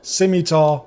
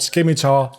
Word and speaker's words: scimitar: It's pronounced scimitar, not scimitar.